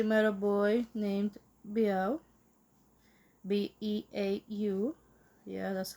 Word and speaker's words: Beau: B E A U.